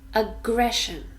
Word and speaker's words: aggression: to look closely at aggression aggression three syllables ah gray shown here the Shh sound sure so three syllables and we stress the second one aggression it's a noun